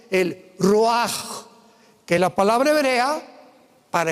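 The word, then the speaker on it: ruach: El roaj, que la palabra hebrea para espíritu.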